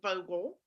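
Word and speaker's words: Vogtle: the construction site of vogel the t is silent it's pronounced vogel um i want to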